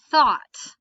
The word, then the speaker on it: thought: the whole sound but you don't actually hear a g or an h sound in a word like thought it's pretty much entirely silent okay gn sign okay